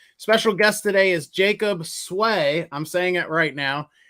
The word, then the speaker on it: Swei: asked you is it sweet is that how you pronounce it sway yeah it said it's pronounced it looks like a sweet but it's a sway okay good enough um